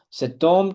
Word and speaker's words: homme: Só que o H é consoante, só que ele é mudo aqui, tá? Então, o som que prevalece é da letra O, então junto o T que aqui está com a letra O que está após o H, OK? Como o H é mudo, ele não tem som.